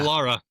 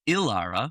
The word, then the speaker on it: Lara: That's a Lara. That's a lowercase L. Okay, Lara. Interestingly, Daniel pronounced it as Ilara, which very confusing.